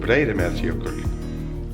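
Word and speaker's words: Breiðamerkurjökull: called Breiðamerjökull. Breiðamerjökull. Breiðamerjökull.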